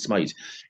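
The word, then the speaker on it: Smyth: uh Rob Smite my H well we will pronounce it Smith here but he pronounced it Smite if you're going to go Google search engine and search Rob Smite smt H 17th November 1993 he wrote a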